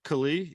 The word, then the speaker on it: Kali: Kali, am I correct on it? Yes, Kali. Yes.